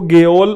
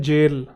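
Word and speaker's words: gaol: अब ये लगेगा आपको गेओल और वो लगेगा गोल, जबकि इसकी प्रोनाउंसिएशन है जेल। ये थोड़ा आर्केइक वर्ड है, इसकी एक्चुअल जो प्रोनाउंसिएशन है वो जेल है। ब्रिटिश स्पेलिंग ऑफ जेल, ठीक है।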